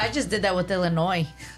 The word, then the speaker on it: Illinois: I just did that with Illinois. Illinois and it's really just Illinois, right?